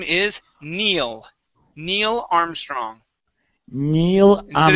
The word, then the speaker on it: Neil: Neil Armstrong. Instead of Neil, it is E. A long e sound.